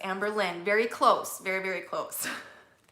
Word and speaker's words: Amber Lynn: And no, not Lynetta. It's Amber Lynn.